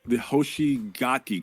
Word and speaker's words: Hoshigaki: And for my number 6, I think I'm going to go with I'm going to try to pronounce this right. The Hoshigaki clan.